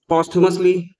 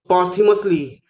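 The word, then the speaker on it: posthumously: पॉसिमसली word जो है आप इसको पॉसुमसली भी प्रोनाउंस कर सकते हैं सीए साउंड के साथ और पोथीमसली ऐसे साउंड के साथ भी प्रोनाउंस कर सकते हैं। दोनों एक्सेप्टेबल है।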